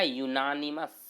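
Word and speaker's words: unanimous: क्यों, क्योंकि इसका प्रोनाउंसिएशन कीजिए ना, इसका उच्चारण कीजिए। उच्चारण क्या कीजिएगा, कहिएगा इसको क्या पढ़िएगा, पढ़िएगा यूनानिमस। यूनानिमस का पहला अक्षर यो, पहला अक्षर यो आ रहा है।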